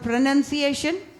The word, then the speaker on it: pronunciation: நம்ம என்ன பண்ணுவோம், ப்ரனவுன்சியேஷன் எழுதுவோம் நிறைய பேர். ஏன்னா ப்ரனவுன்ஸுங்கிற வேர்டில் OUN வரும் இல்லையா? ஆனால் ப்ரனன்சியேஷன் வரும்போது you will not right O.